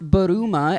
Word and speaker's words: Bulma: No, never heard of Trunks is the son of of Bulma who who is in Japanese is it's pronounced Bulma as in bloomers.